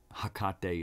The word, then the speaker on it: Hecate: Hecate is how I was told to hear it, to pronounce it.